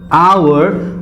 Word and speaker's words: hour: When I say hour, I am not pronouncing this H. It is silent.